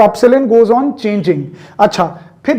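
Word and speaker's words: ε: कईयों को ये इंग्लिश अल्फाबेट E लग रहा होगा, बट इट is from Greek language. ठीक है, और इसकी प्रोनाउंसिएशन क्या है, जैसे इसकी प्रोनाउंसिएशन क्या है A, इसकी प्रोनाउंसिएशन क्या है B, तो इसकी प्रोनाउंसिएशन क्या है, एप्सिलॉन. क्या बोलते हैं इसको, एप्सिलॉन.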